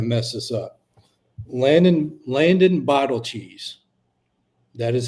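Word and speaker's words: Beidelschies: this up Landon Landon Bal cheese that is how you pronounce it they his nickname is Big Cheese it's a Landon Bal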